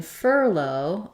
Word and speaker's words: furlough: build from low furlough furlough has first syllable stress same the same ER sound and then my ough simply says o in this word I do have a